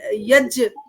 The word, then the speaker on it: यज्ञ: ता और रा मिलके, तो या जो ज्ञा पढ़ा देते हैं, ज्ञा वो है नहीं, वो ज्ञा है, जा और या है, लेकिन हिंदी में उच्चारण खराब हो गया है।